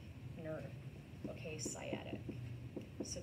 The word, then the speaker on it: sciatic: It is called the sciatic nerve. Okay, sciatic. So that C is silent.